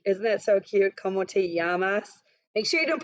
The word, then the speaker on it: llamas: for the week isn't that so cute komote yamas make sure you don't pronounce it llamas right everyone so when we click here we'll